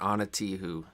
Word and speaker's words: Ana Tijoux: It's spelled kind of like you would think, except the last bit is like French. It's OUX. So it's Anna, ANA, and then like Tijuana, TIJ, but then OUX.